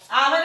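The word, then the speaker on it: hour: आवर भी एच से शुरू हो रहा है, लेकिन इसको हम लोग जब लिखते हैं तो आवर, देखिए यहाँ उच्चारण आ रहा है, आ कहाँ है तो स्वर वर्ण में है, इसलिए हम लोग यहाँ भी एन लगाएंगे।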